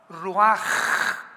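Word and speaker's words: רוח: la palabra como suena r u a c h ruach, que es la palabra hebrea que significa espíritu y se pronuncia la ch en el hebreo como j. Ruaj, roaj.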